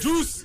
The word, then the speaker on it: Duce: It's Juice.